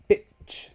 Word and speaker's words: bitch: This, however, it's kind of the opposite. Bitch. See? Bitch. The airflow still stops, but look where the tongue is. The tongue is on the top of the mouth for this one.